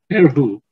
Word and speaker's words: Erhu: It's Erhu? Yes, it's called Erhu.